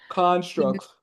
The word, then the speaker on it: constructs: Constructs. Construct. Constructs. Emphasis on the first one.